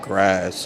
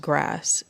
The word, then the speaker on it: GRAS: And the sculpture is called, I think it's pronounced grass, but not like the grass like that grows from the ground. It's GRAS, which is a name after the FDA classification of untested chemical like additives.